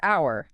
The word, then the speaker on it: hour: Like the word hour. Hour is a perfect example. It begins with the letter H, which we usually think of as a consonant, right? But when we say it, the H is silent.